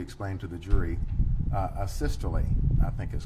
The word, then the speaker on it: asystole: and have you explained to the jury uh a systole i think is called um am i pronouncing that right by the way a systole yes would you spell that for ladies and gentlemen of the jury